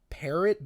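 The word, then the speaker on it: Pierrot: is so good who does this parrot but it's spelled like p i e r r o t hear it I don't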